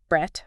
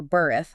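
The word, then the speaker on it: berith: He says the Hebrew word brett or berth, that's spelled B E R I Y T H means covenant.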